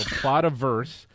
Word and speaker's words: Plotaverse: And basically what it is, so PLOTA, Plato, I don't even know how you pronounce that. Plotaverse, Plotiverse, I bet. Yeah. PLOTA, Plotaverse. and then Plotaverse. VERSE. Yeah, Plotaverse. So Plotaverse.